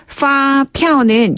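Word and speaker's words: 发票: 피네 피 파피 그렇죠 파 할 때는 어 영어의 그 어떤 플라워 할 때의 그 F 발음이고 파 피 예 피 할 때는 입술 붙이는 피아노 바음 예 피 그다음에 그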